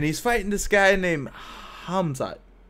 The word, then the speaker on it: Khamzat: And he's fighting this guy named Khamzat. The K is silent. The H is hard.